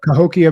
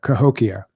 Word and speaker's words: Cahokia: Um and then the documentary which I saw which I didn't even know about co how do you pronounce that? Cahokia mounds the untold story. Yeah. Cahokia.